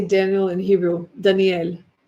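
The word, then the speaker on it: דניאל: Danielle.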